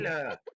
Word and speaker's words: Layla: So Layla love flaps. Part times one is 4,000. You can ignore that. Ignore the 4 parts. You just get the Layla pussy flaps times 10. Layla.